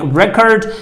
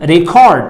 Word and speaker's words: record: its right pronunciation like it's a record and it this is a record as a noun I need to pronounce it like record and as a verb I need to pronounce the word record I need to have the second the secondary stress so you need to